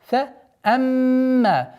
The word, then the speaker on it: فَأَمَّا: Фаамма. Естественно, перед долготой у нас назализация в размере двух огласовок мим, удержание.